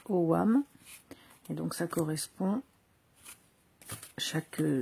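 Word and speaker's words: ogham: des des AM donc ça sécrit au GAM mais ça se prononce au WAM et donc ça correspond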